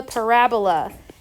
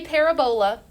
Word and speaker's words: parabola: something called a parabola p a r a o don't say parabola no parabola it's very tempting to say parabola when you see the way it's spelled but it's parabola say the word parabola parabola not parabola parabola okay a parabola has